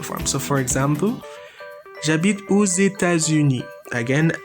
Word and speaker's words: aux États-Unis: So for example, j'habite aux États-Unis. Again, I do the liaison with O. The X is pronounced because the next letter is E from États-Unis, a vowel.